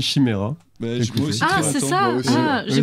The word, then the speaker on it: Chimaira: Ça se prononce comme ça, moi j'ai toujours dit Chimera.